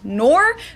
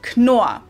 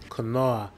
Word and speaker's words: Knorr: The K is not silent here. Knorr was founded in 1838 by Karl Heinrich Theodor Knorr and is headquartered in Heilbronn, Germany.